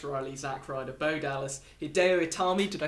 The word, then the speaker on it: Hideo Itami: Yeah, the order of elimination was Axel, Rose, Fandango, Alex Riley, Zack Ryder, Bo Dallas, Hideo Itami, did I say it right? Hideo Itami, yeah.